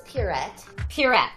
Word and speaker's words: Pierrette: How do you pronounce this character's name, Erika? You were really good at it last time. This one's Pierrette.